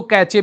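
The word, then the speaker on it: cache: उत्तर होता है आपका उसको कैश मेमोरी कहते हैं कैश मेमोरी ठीक है जो स्पेलिंग होती है उसकी सी ए सी एच ई कैश memory ठीक है इसको कैचे भी कुछ लोग कहते हैं अगला प्रश्न है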